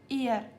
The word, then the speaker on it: er: एयर इसका pronunciation क्या होगा? ई आर एयर एयर means he fifth है एस आई ई।